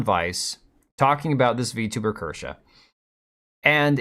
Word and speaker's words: Kirsche: And that's Kersha. And I'm going to try to pronounce the E extra hard tonight because a lot of people were criticizing my video when I said Kersh or Kersha.